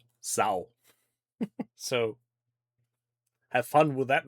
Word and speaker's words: Sau: And in case you're wondering about the pronunciation, it's literally the first half of Sauron. Sau.